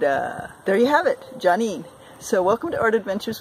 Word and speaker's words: Joneen: with johnny and um yes my name is johnny and you will find me on instagram uh my first name is spelt j-o-n e e n uh i got